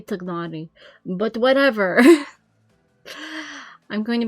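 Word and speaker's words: Tighnari: I don't remember how they say his name, and honestly, how they say their names in Genshin doesn't mean much considering how often they mispronounce the names, canonically. Looking at you, Tainari. It should be Tagnari.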